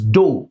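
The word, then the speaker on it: ∂: Now when you differentiate this t with respect to x, you'll be writing dou t by dou x. This is dou, it is not d, it is dou.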